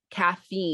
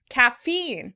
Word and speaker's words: caffeine: the first syllable caffeine in British English the word would be stressed on the first syllable caffeine caffeine in American English the word is stressed on the second syllable caffeine caffeine and in America it's the second syllable is emphasized was it kind of